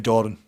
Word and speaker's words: Doran: Jamie Doran. Not Duran. Doran. No, it's Doran. Is this you pronouncing it wrong again? No, this is us pronouncing it right. He's West Cumbrian, therefore it's Doran.